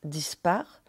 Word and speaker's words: Dispac'h: désordonné en breton et 10 packs qu'on prononce dispard ça veut dire révolte